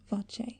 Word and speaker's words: voce: ends with closure and the Italian voce pronounced vache with its two open vowel sounds the vowel sound ah